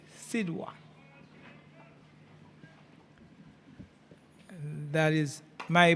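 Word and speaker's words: Sidhwa: If we look at the spelling of his name, it's K R I S H Krish S I D H W A Sida.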